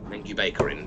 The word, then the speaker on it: Lengjubikarinn: Lengjubikarinn is what it's called. That's how it's pronounced.